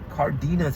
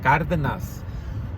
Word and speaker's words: Cárdenas: I'm like, it's not Cardenas, it's Cardenas.